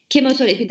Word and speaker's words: kemoterapi: Kemoterapi de aynı şekilde CH harfi K şeklinde okunuyor. TH T şeklinde direkt kemoterapi.